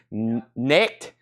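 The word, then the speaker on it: Knecht: Connect. Like connect the dot. Connect. Dalton Connect. He was at Rocky Top. $5. And that's actually his rookie card. It's just a base card, first Bowman, Dalton Connect.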